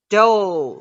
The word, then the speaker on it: dough: Dough. Very good. Dough. GH 不发音 dough.